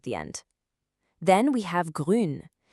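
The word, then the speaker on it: grün: Then we have grun. Now for this one, shape your lips like you're saying ooh but then try to smile. Grun. You'll feel it.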